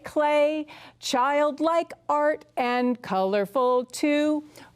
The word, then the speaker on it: Klee: Now you would think that is pronounced Klee, but we call him Clay.